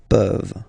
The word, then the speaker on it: peuvent: Tu peux, il peut, elle peut, nous pouvons, vous pouvez, ils peuvent, elles peuvent. Okay, as usual, this ending, this ENT ending, you write it, you don't pronounce it.